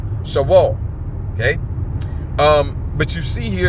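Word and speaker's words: Sheol: The correct pronunciation will be Shawal. Shawal.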